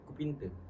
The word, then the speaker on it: Kupinte: Logatnya kalau Gayo gimana? Kupinte gitu bacanya gimana? Kupinte. Kupinte gitu.